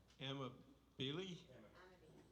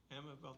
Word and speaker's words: Amabile: Joe Amabili? Could you pronounce that again for me? Amabile, thank you, Joe.